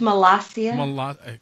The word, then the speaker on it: Molossia: It's pronounced Molossia.